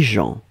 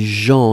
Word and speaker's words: gens: La première chose, c'est les gens. Et souvenez-vous, les gens, on écrit ça avec un G, G-E-N-S. On ne prononce pas le S final, bien sûr, mais on doit le noter.